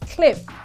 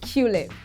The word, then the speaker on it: Qlib: It's pronounced clip and not Qlib.